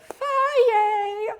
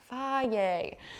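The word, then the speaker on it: Fage: Somebody from Greece is gonna tell me I'm saying it wrong, but I'm from Texas, don't take it from me, but it says it on the container, Faye.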